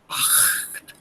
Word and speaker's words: acht: Please listen to the sound very carefully before the word act. It's not act, but before a, the sound builds in your vocal cords, but is not pronounced. Acht, acht.